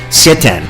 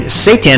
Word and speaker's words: seitan: First is seitan. And seitan is spelled S-E-I-T-A-N.